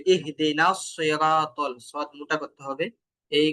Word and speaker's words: الصراط: الصراط المستقيم ইহদে নাস, এই যে সদের উচ্চারণ এটা কিন্তু মোটা হবে, ইহদে নাস সিরাতাল, এইভাবে।